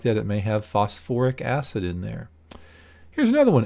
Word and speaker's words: phosphoric: but like I said phosphorus containing acids have that extra syllable we call it phosphoric not phosphate phosphoric acid which is actually an